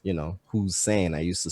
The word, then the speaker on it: WhoSane: out as a right it's you know who's saying i used to spell it or write it out as like a